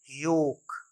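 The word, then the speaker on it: yolk: एल के ये है योक योक the yellow part of द एग अंडे का जो पीला वाला हिस्सा होता है उसे हम पढ़ते हैं योक योक नहीं एल का साउंड नहीं है माय रियल और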